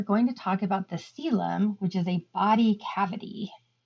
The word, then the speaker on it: coelom: So the word coelom means internal body cavity, and I know that's a weird spelled word, but it is pronounced like coelom.